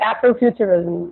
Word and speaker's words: Afrofuturism: How do you pronounce it? Yeah, that's it, Afrofuturism.